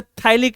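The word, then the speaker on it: phthalic: P silent होता है, जैसे थाइलिक एसिड, एक ऑर्गेनिक एसिड पढ़ोगे, थाइलिक, PTHALIC, थाइलिक एसिड, ACID, है ना, इसमें P साइलेंट होता है।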